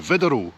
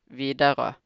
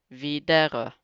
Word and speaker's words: Widerøe: with a Norwegian airline, Widerøe. I've never flown with them before. That was a horrible pronunciation. Okay, this is how it's supposed to be pronounced. Widerøe. Again, Widerøe.